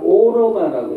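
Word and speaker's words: 歐羅巴: 구라파라는 말이 구가 중국 발음에서는 기억 발음이 안 나요. 구라파가 아니라 오로바라고 읽어요. 중국 발음으로.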